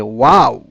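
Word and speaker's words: واو: আর ওয়াও, এ হরফ উচ্চারণে দুই ঠোঁট সরাসরি মিলিত হয় না, বরং উভয় ঠোঁট ডান ও বাম পাশ থেকে গোল হয়ে অর্ধ ফোঁটা ফুলের মতো মধ্যস্থলে ছিদ্র রেখে উচ্চারিত হয়, যেমন আউ। অর্থাৎ উচ্চারণ করার পর তোমার ঠোঁট দুই দিক থেকেই মিলবে, কিন্তু মাঝখানে একটু ফাঁক থাকবে।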